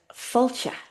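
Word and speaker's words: fáilte: So there's an accent over the a. This is the only accent in the Irish language. It's called the father, meaning long. So we hear fall, then we smile into the eye.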